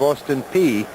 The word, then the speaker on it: Austin Peay: including a stint as the head coach of Austin Peay in Ohio. I pronounced that correctly, didn't I?